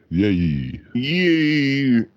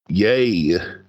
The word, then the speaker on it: Ye: Yay. Yeah. Well, I mean, if he's a black Israelite now, then it would be pronounced yay.